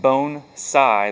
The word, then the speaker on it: bonsai: a video about bonsai bonsai is pronounced bone side like b-o-n-e like bone and then the side like s-i-h-g-h bone sci uh which roughly translates to